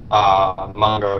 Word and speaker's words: Mungo: mods exactly as what Mungo here has. Say it right, it's Mungo, not Mungo.